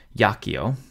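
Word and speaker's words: iacio: word is a consonant yakio has three syllables not four since the first I is a consonant and it turns into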